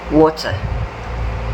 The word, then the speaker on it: water: The T sound does not sound like a strong T.